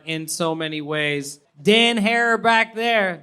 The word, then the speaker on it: Herrera: Dan Herrera back there. Dan Herrera rhymes with terror.